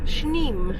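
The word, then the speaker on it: Sneem: I've been told it's pronounced spelled sne and pronounced schne so it looks quite a gloomy cold day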